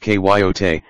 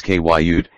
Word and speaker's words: coyote: every night without exception coyote pronounced kyot and in some regions Kut is a native Mexican